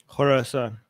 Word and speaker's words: Khorasan: How do you pronounce it the right way, Armin? Khorasan.